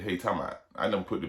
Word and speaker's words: Helutalmout: We shorten everything, you know. Southern tongue is real lazy, so we don't like to use a whole bunch of syllables. So what the hell are you talking about?